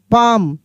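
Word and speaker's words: palm: काम पी ए एल एम पाम।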